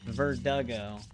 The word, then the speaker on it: Verdugo: Yeah, Verdugo. I mean that it is spelled with the D. The way that it's written, it just sounds exactly like Vertigo.